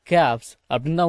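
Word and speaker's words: calves: Native Ghouse அப்படின்னா நாட்டு மாடுகள் அப்படின்னு அர்த்தம் சரிங்களா okay and மற்றும்டூ small கேப்ஸ்சி எல்வி எஸ் கேப்ஸ் அப்படின்னுதான் உச்சரிக்கணும் எல் சைலன்ட் சரிங்களா அவரிடம் ஐந்து நாட்டுப் பசுக்களும் இரண்டு சிறிய கன்றுகளும் இருப்பதாக சொன்னார்.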